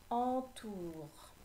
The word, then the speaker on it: entoure: Entoure, c'est le en de enveloppe, EN. Tu n'oublieras pas le E muet à la fin de entoure.